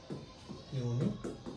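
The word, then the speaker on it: unique: যেমন হচ্ছে দেখো I have dash ইউনিক idea. দেখো তাহলে ইউনিক। তাহলে এটার উচ্চারণ কি হবে? ইউ দ্বারা। ঠিক আছে? এটার উচ্চারণ হচ্ছে ইউ দ্বারা।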